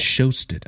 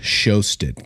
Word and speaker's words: Sjöstedt: It's got a J in it, Sjöstedt. Can you imagine? Right? There is no J present there, but it obviously is. It obviously is.